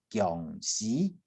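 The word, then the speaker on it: 恭喜: 不要念成 xi 哈喜，不要念成恭喜哈，不是诗哈，恭喜。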